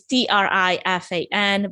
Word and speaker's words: Trifan: my last name is t-r-i-f-a-n but it's pronounced in romanian trifan so that's how the